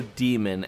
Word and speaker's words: daemon: is an antihero she's a demon with an a as the game calls her or a demon as it pronounces it she's out for revenge